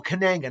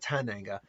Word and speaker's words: Kananga: Maybe I got his name wrong. Solitaire. Oh, Kananga, not Tananga / Mr.